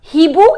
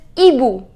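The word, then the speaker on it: hibou: with right H but we do not pronounce it this H does not have its pronunciation so it is not he boo it is EBU which means an old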